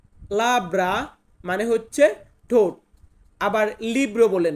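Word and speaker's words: labbra: ঠোঁট এটাকে ইতালিয়ান ভাষাতে বলা হয় লাব্রা। লাব্রা মানে হচ্ছে ঠোঁট। আবার লিব্রো বলেন না, লিব্রো মানে হচ্ছে বই।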